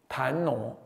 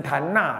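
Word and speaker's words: 檀那: 檀，哦，檀挪，有人念成檀那了，其实那个是长老跟我讲说应该念挪，传古来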